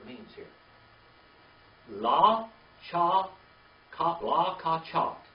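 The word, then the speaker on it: לָקַחַת: La cha ka la ka chat. La ka chat.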